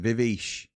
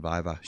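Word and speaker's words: Viveash: Because his name's spelt like Vivish. But everybody that I've ever spoken to about it calls him Vivash.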